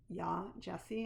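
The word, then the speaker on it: Yaa Gyasi: have a book to show you and again yah jessie and it's spelled first name y-a-a and the last name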